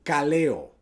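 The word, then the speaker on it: καλέω: Esa palabra llamas en el griego es el kaleo. Kaleo. Y él suena como epicaleo, pero es solamente el kaleo.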